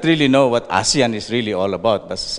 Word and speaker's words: ASEAN: or during conferences that asean is being pronounced by Filipinos even very high officials as a sayin you know I I